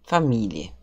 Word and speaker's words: Familie: Heute sprechen wir über die Familie.